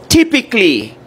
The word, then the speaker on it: typically: It's typically. The A is silent, right?